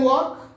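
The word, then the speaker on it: walk: আই ক্যান ওয়াক, ওয়াকের আবার এরকম দেখো, এখানে যেমন টি অনুচ্চারিত আছে, সাইলেন্ট আছে, তেমনি এটা ওয়াক উচ্চারণ হয় না, ওয়াক এল এর উচ্চারণ হবে না, এল উচ্চারণ সাইলেন্ট থাকে।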